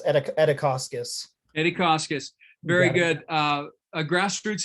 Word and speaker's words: Edikauskas: Edikauskas, did I pronounce that properly? Got you muted. Yeah, it's Edikauskas.